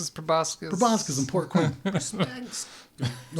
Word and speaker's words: proboscis: Heinrich, I believe you found a stinger, some kind of a proboscis, or proboscis, depending on how you would like to pronounce it. That's, where I'm from. Yeah. It's proboscis.